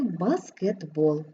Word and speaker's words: баскетбол: рядка звертаємо увагу що в слові баскетбол ми пишемо T але так як після Ти йде дзвінкий бик ти уподібнюється до парного його дзвінкого д і будемо вимовляти баскетбол правильна відповідь рядочок в